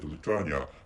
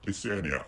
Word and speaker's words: Lithuania: And I said Lithuania as one of the Baltic countries, but actually the correct name is Lithuania. I checked out the pronunciation, and the Lithuania is a correct pronunciation of the country, which is located in